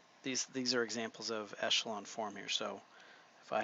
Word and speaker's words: echelon: it's actually pronounced escalon with a chef sound instead of a cha Peschel on form a matrix is said to be in row echelon form if there are